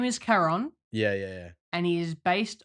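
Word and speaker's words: Charon: Quran like a it's it's ch but it's K that's how you pronounce it and the only thing that me in the entire film is that Winston says Sharon like Sharon yeah like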